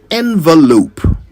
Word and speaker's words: envelope: Either way, it is never pronounced with an O sound at the beginning.